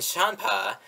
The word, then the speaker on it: Champa: the beers and whist reference alcoholic drinks and champa is the pronoun is pronounced like the sort of ward champ champagne